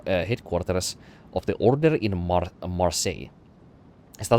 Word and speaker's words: Marseille: of the Order in Marseille. Is that how you say it? They like silent pronounce the L's in there. It's literally just Marseille. Where her son's devastating power might be contained.